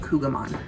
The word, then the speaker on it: Kouign Amann: going to be making what is technically pronounced queen of mom or queen of man queen of man I don't know in our house we call it kouan so I chose this